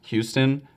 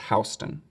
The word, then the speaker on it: Houston: island this way they start right here with houston street so houston kind of works as first street and work their way north from there i know it looks like it's pronounced houston but i promise it's houston the neighborhood just south of this is referred